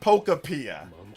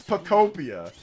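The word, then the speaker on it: Pokopia: It's not Pokapia. It's Pocopia.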